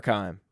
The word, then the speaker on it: Keim: Is it Keem or Keim? Keim. Steve Keim.